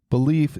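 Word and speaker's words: Baleaf: going to their website belief is spelled b a l eaf one big plus for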